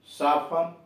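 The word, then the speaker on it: soften: एस ओ एफ टी ई एन, सफन, कोमल करना। अब you silent देखिए, जी यू ए आर डी, गॉड, चौकीदार।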